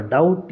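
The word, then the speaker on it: doubt: तीसरा ऑप्शन है आपका डाउट। यहां पे बी साइलेंट है।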